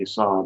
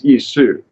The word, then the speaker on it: Esau: ISU this guy see it isn't really Esau but it you know it's ISU because that's a well